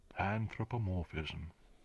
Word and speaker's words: anthropomorphism: Anthropomorphism. That's how you pronounce it.